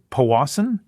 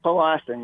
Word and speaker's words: Powassan: in ontario correct dave is it powassan it's paul austin yes all right you